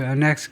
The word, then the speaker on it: annex: 트럼프의 관세와 그의 반복적인 조롱 to annex Canada, to annex Canada. 부동사면요, annex라고 읽습니다. 명사면 annex고, 그래서 to annex Canada, 캐나다를 합병해버리겠다라는 조령이고요.